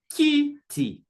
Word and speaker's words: kiti: See, kiti, kiti, kiti. You see, so there's a stress on the syllable ki.